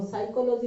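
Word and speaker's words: psychology: अरे इसे देखना, एगो साइकोलॉजी लिखता हूँ PSY साइकोलॉजी ऐसे करके लिखते हो। और साइकोलॉजी में देखो P है लेकिन पढ़ते क्या हो S, तो P को तो S पढ़ ही सकते हैं।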